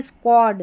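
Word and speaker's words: squad: Wanton उच्च श्रंखला wanton यह है स्क्वाड। स्क्वाड यहां पर दस्ता। यहां पर देखिए क्यू यू के बाद में ए आ रहा है। ओ पढ़ रहे हैं।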